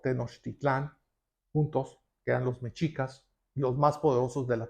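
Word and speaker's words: Mexica: La palabra México es una mala pronunciación los españoles de la palabra mechica.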